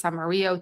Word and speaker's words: Amarillo: called um like somewhere like Amarillo Texas Amaro Texas depending on how you pronounce it um yeah it